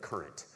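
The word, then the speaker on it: Currant: There's this site that came up, it's not so prevalent now, but used to come up called the Daily Current. It's spelled like a raisin, C-U-R-A-N-T.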